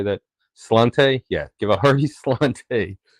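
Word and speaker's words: sláinte: Slante?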